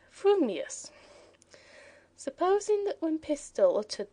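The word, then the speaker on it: frumious: If your thoughts incline ever so little towards fuming, you will say fuming, furious. If they turn by even a hair's breath towards furious, you will say furious, fuming. But if you have the rarest of gifts, a perfectly balanced mind, you will say fumius.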